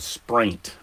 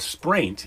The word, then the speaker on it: spraint: Otter dung is called spraint. Spraint rhymes with. Spraint. okay, rhymes spraint. rhymes with what? Taint. Yes, it does rhyme with taint.